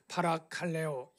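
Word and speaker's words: παρακαλέω: 여기 보면 엘라오는 파라칼레오 발음하는데요.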